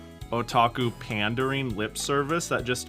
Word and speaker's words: otaku: There are certain anime that will do like otaku pandering lip service that just make me insanely mad. Ottoku. What? Otaku. Uh right. Yeah, there's uh did I say it wrong?